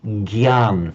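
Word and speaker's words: ज्ञान: Because as you know, in Hindi, they'd say gyan, for example, the g sound.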